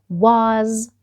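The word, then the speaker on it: was: اللي عليها الدور وقاللي دي اسمها واز واز واز ومش هننسى انه حرف الاس هنا نوتي مش هننطقه باسمه ونقول لكن هنطقه كاني بنطق لر دي فبقول واز واز بعد كده عندي كلمه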